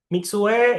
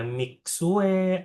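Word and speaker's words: Mixue: Kalau mau kalian bacanya sesuai dengan cara Mandarin yang benar, bacanya gimana? Ini dipisah ya. Mi mi sendiri terus un-nya titik dua mi ya kan. Jadi di sini bacanya su gitu bukan su bukan su doang tapi su gitu.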